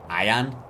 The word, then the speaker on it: Ian: Even though if you just read the letters I-A-N, Ian is how you would say it in Spanish, and in English it'd be like Ian, right?